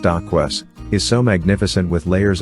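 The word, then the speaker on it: dacquoise: hazelnut decoys the famous french dessert decoise pronounced docques is so magnificent with layers of nutty meringue and luscious whipped filling 12.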